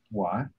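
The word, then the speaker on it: wye: Y. Excellent. And that's spelled W Y E. And it's in the shape of a Y.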